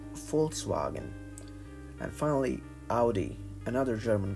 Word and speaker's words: Volkswagen: Since it is German, it is not Volkswagen, but Volkswagen.